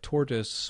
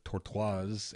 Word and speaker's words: Tortoise: clipboard let's look at tortoise or torte woz SVN depending on how you pronounce it is it's quite